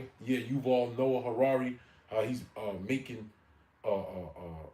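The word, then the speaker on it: Yuval Noah Harari: whatever how you say his name he was Noah Harari yeah you've all Noah Harrari uh he's uh making a AI Bible right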